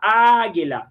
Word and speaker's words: águila: Só dizer para quem está longe a palavra águila. Então, a sílaba mais forte, esse lá, A, que está aqui.